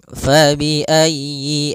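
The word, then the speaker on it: فَبِأَيِّ: maghribainayi pada lafal fabiayyi ala di sini usahakan huruf ya-nya ditekan fabiayyi ala fabiayyi ayyi kemudian yinya pendek jangan dipanjang jangan Yi A tapi langsung saja fabiayyi ala Kemudian pada lafal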